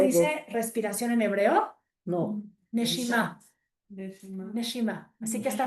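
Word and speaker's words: נשימה: Neshima.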